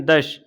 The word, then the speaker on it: दश: अगर शाह शलजम वाली बनी है दश, इसमें सीटी का उच्चारण होता है, ये हल्की सी सीटी की आवाज़ आती है, तब फिर ये हो जाएगा तत्सम।